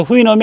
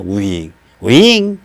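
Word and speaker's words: Houyhnhnm: 근데 후이놈이 아니에요. 그, 진짜로 발음해봐라요. 이렇게 발음해야 돼요. 그러니까 우리나라 말로 꼭 번역을 하려면 우휘잉이에요. 우휘잉.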